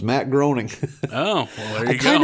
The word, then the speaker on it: Matt Groening: One thing I learned is that it's pronounced Matt Groening. I had no idea. Oh, yeah, you didn't know that? Nope, thought it was Matt Groening.